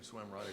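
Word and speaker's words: Cwm Rhondda: As a kid, I used to love the name of the tune, Swim Rhonda, because it's spelled C-Y-M.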